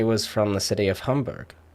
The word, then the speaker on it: Hamburg: one so in germany there's a city called hamburg hamburg but a lot of people here pronounce it hamburg so it's hamburg and deutschland and apparently